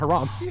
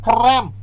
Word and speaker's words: haram: that definitely is not Haram what I'm saying uh guys we you said it wrong it's Haram have some donos that